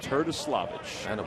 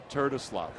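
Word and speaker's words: Terdoslavich: Turtislavich. Joey Turtislavich. Right. Basically, they said that it's pronounced just the way it sounds. Okay. T-E-R-D-O. Turtislavich. The way it looks.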